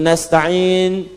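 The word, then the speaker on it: نستعين: Yang kedua itu nastain dibacanya menggunakan fathah ujungnya sukun. Jika ada yang baca menggunakan kasrah itu dari Bani Tamim, Bani Asad di antaranya.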